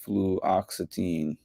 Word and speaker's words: fluoxetine: By the way, the medication is pronounced fluoxetine.